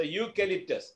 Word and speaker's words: eucalyptus: So eucalyptus, is it clear?